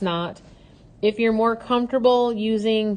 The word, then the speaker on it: naught: It's pronounced not, so X naught.